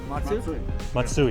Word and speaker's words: Matsui: These are Matsu motors. Is that how you pronounce it? Matsu? Matsui. Matsui.